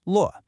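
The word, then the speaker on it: 络: The character we're focusing on is luò, pronounced luò. That's a falling luò.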